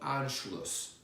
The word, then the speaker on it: Anschluss: Number four is called Anschluss. Anschluss is spelled A-N-S-C-H-L-U-S-S.